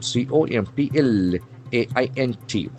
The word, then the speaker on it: complaint: The accent falls on the second syllable.